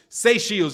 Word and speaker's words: Seychelles: If you're just, pronounce Seychelles. Okay. Cool. Seychelles.